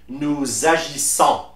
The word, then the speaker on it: nous agissons: That means we link the last S of the personal pronoun with the first vowel of the verb and convert that se sound into ze. So you will say nous agissons, vous agissez, ils agissent.